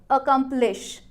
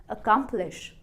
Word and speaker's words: accomplish: आप कोशिश करें, देखो, अगर हम सिलेबल स्ट्रेस नहीं देंगे तो कैसा सुनाई देगा? अकम्प्लिश, अकम्प्लिश, अकम्प्लिश। कोई स्ट्रेस नहीं है किसी भी लेटर पर स्पेसिफिकली, तो ये प्रोनाउंसिएशन सूदिंग नहीं है कानों को भी, ये थोड़ी ऑड लग रही है, नेचुरल नहीं लग रही। पर अगर हमने स्ट्रेस किया बीच वाले पार्ट को, अकम्प्लिश, अकम्प्लिश, अब आपकी प्रोनाउंसिएशन लग